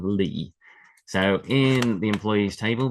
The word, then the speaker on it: Li: the surname family name Lee. So in the employees table, there's two different variations on this. There's LI and L E. Both of these I would pronounce Lee. They sound the same to me.